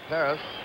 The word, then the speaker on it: Perez: is correct he says Paris I guess that's the Latin American pronunciation katas but canal said